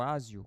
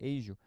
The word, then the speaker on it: ASIO: Essa Agio aqui, ou Asio, como o pessoal fala, mas na verdade a pronúncia correta seria Agio.